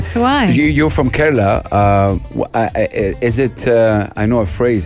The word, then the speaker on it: Kerala: the iq princess of now how do you pronounce kerala you see i i'm british so i went to say kerala and house was like no anna that's wrong